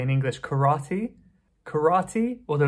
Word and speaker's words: karate: And there's many related to sports and martial arts like karate. We say in English karate. Karate, although it's a little bit different than how it's pronounced in Japanese.